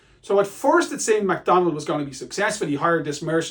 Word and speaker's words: Macdonwald: been a rebellion a Scottish nobleman called It's pronounced McDonald as in mackie's but it's a w in it MacDonald McDonald we learned that he has rebelled against